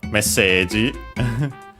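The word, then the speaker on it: メッセージ: But yeah, the translation, we have first and foremost messaggi. from English message. Let's check quickly its accent. Yeah, it's actually accented on the first syllable, just like in English, message.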